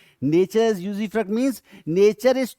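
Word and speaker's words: usufruct: They always use टू, इसको pronounce करते हैं यूजीफ्रक्ट.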